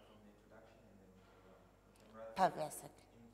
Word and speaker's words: Pivacic: My surname is pronounced Pivacic, as in Jurassic, Pivacic. Pivacic.